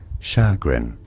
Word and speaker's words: chagrin: So in British English it is said as chagrin. Chagrin with a stress on the first syllable, and yes, it's a sh sound, not a ch sound, because it's French, and ch in French is sh, not ch.